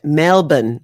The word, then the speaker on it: Melbourne: trying to catch up I'm a little bit Melbourne okay it is melbour melbour but do people not in Australia pronounce it melbour I know you pronounce it